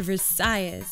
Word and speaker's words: Versailles: thank you sure well we actually need Miami pronounce it Versailles is we don't pronounce in the French we